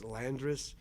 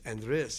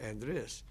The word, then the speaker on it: Andres: And my first name is pronounced, if people look at it, they say it's Landris, but it's Andres. It's pronounced Andres.